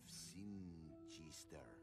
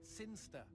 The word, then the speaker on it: Sinchester: But Elliot Thomas was still stuck down on Earth, in the boring town of Sinchester. Sinchester. Sinster. What? It's pronounced Sinster.